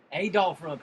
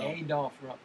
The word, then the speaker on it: Adolph Rupp: Adolph Rupp. If you say it wrong, the Kentucky people will come and find you. They will. Adolph. So Adolph Rupp, not Adolph.